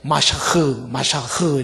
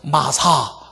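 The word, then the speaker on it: משח: 그래서 성경에는 기름을 붓는다라는 말을 메시아, 정확하게 말하면 이제 이게 마샤흐 이렇게 발음을 해요. 혹은 마사 이렇게도 발음하고 마샤흐 발음하는데 이게 메시아의 어근이에요.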